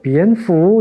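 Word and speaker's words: 蝙蝠: 박쥐는 중국어 발음으로 비엔푸 이렇게 발음이 되거든요.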